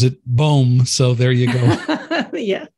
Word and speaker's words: Boehm: It looks like Boehm, but we pronounce it Boehm. That's all right. My screen reader pronounces it Boehm, so there you go.